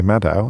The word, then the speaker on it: Maddow: Rachel Maddow, who is a brilliant broadcaster in the United States of America, still hanging in there.